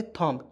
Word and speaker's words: thumb: THUMB क्या पढ़ेंगे, थॉम्ब। क्यों पढ़ेंगे, फिर से मैं बता दे रहा हूँ, बी को इसमें काट दीजिए, साइलेंट कर दीजिए।